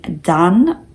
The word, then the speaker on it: Daan: And most Daniels go by the nickname DAAN, pronounced kind of similar to how I said it.